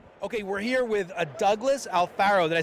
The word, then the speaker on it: Douglas Alfaro: okay we're here with a Douglas Alfaro that I said it right yep and I